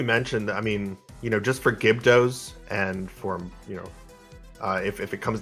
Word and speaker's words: Gibdos: And Lady Boxthief pointing out that the correct pronunciation is Gibdos.